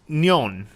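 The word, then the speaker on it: 년: in mandarin interesting but is pronounced nyon rather than nyan so the only real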